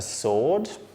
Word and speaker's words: sword: you don't pronounce that another group which has quite a few silent letters is groups with the silent W so we've got the word answer we also have a sword which is what a